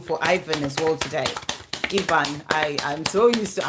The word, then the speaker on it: Ivan: Ivan, I'm so used to Ivan. In the UK, it's Ivan. I'm just so used to it. That's how you pronounce it here.